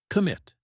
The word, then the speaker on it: commit: Word six, commit. It means to promise to do something and follow through. Example, I commit to practicing every day. Pronunciation tip. Commit. Stress on the second syllable.